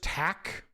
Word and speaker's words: tack: Is it really just tack? Tack? Tack.